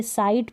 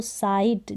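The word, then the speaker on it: sight: तो GH अगर एक साथ आ जाते हैं तो वो साइलेंट रहते हैं।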